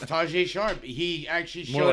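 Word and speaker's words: Tajae Sharpe: It's Tajay Sharp.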